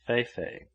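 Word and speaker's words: fefe: all in their graves fifa he had which is the native for elephantiasis and which is pronounced fei-fei a quarter of a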